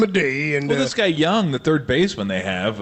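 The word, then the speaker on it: Jung: gonna give them a day and this guy young the third baseman they have uh and it's spelled j-u-n-g but he's he's been killing it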